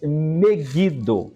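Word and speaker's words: Megiddo: Montanha ou monte do vale de Megido, ou como pronunciam outros, Megido.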